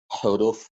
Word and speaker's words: huruf: Actually, it's H. So huruf. Yeah. Like some people may pronounce it differently based on how they are trained to pronounce it. Because I have this, I do pronounce it sometimes with huruf. Yeah. But I usually pronounce it huruf. Yeah. It's almost silent H.